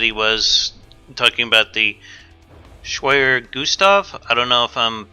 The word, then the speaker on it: Schwerer Gustav: 3 confirms that he was talking about the schwerer gustav I don't know if I'm pronouncing that correctly that is correct okay actually